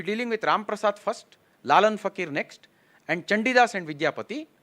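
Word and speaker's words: Lalon Fakir: Lalan Fakir, the pronunciation was not right when the announcement happened. It is Lalan Fakir, Lalan Shah Fakir, Sufi.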